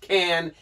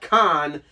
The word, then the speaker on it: Can: Can is the group, and I'm pretty sure it's pronounced Can and not Con, because on the German